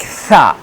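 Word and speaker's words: ث: From where we have to pronounce, the pronunciation place is when the front corner of tongue will be between the two jaws, two teeth, like upside and two side, third, second upside and downside, like tha.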